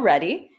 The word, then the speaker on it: Reddy: So my name is Reddy. It's Reddy like Ready Ice, Ready Bikes, but don't worry, Tanya, no worries that you mispronounced it there.